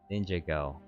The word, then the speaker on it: Ninjago: Something clever says it's it's pronounced Ninjago. Okay. That makes that makes more sense. Ninj Ninjago.